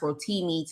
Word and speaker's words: Rotimi: actor from Power, I think his name is pronounced Rotimi, talking about witchcraft and different things like that in the industry.